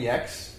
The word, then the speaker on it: Yex: His name is Yex. That's sex with a Y. Has trouble pronouncing. Yeah, Yex like sex, he likes to say.